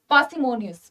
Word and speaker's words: parsimonious: तो हम जब इसे बोलते हैं ना तो हम पार्सिमोनियस नहीं बोलेंगे, पार्सिमोनियस नहीं बोलेंगे, आर is silent here, पार्सिमोनियस, पार्सिमोनियस जब हम इसे बोलेंगे तो आर की आवाज नहीं आनी चाहिए।